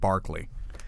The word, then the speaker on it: Berkeley: actually, that's mispronounced too because it was named after George Barclay, even though it's spelled Berkeley. It should be pronounced Barclay.